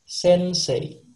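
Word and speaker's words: 先生: Kalau di bahasa Jepang cara bacanya sensei.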